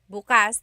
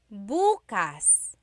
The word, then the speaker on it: bukas: if you say Bas buas the emphasis is on the second syllable that means open if you say buas buas emphasis is on the first syllable that means tomorrow very interesting like oh